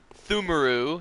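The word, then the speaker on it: Pthumeru: And we got the Thumaru, excuse me, the P is silent.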